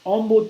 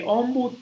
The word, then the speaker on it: ombu: Okay, ombud trees are common there. The ombud tree, ombu, okay, is actually how it's pronounced.